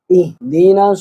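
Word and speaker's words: اهدنا: তাড়াতাড়ি হবে ইয়াকা নাবুদুইয়াস ইহদিনা সিরাতাল মুসতাকি দিনাস হামজা হাজের ইহ এটা অনেকে ইহ হয়ে যায় অনেকের এরকম হয়ে যায় না এখানে আছে ছোট হালকের বাহর থেকে দিয়ে মুসতাকি এজন্য এটা হবে ছোট হাইদিনা ইহদিনা সিরা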